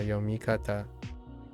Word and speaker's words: 読み方: 読み方 Yeah, Yomikata. 読み方 Yeah, no Renakus because yep.